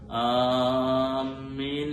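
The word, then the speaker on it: آمين: അതുകൊണ്ട് ആമീൻ ആമീൻ എന്ന് പറയുമ്പോഴും ആമീൻ എന്ന് പലപ്പോഴും ആ ഹംസയെ അസ്ലിയായ മദ് കൂടുതൽ നീട്ടി പലരും ഉച്ചരിക്കാറുണ്ട്.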